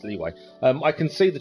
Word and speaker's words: Liyue: lieu we got there well sorry leeway I keep saying it's pronounced live with you it's not it's leeway um I can see